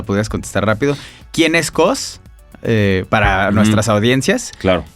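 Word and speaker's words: KAWS: Cos se escribe K-A-W-S.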